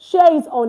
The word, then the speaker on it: au: These are what we categorize as our prepositions in French. Okay, so now you see this au. Now, this au is pronounced o.